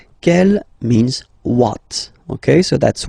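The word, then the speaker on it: quelle: same way and then the feminine form is written like that q l l but it's pronounced like the masculine form k at the masculine Kell at the feminine okay so it's basically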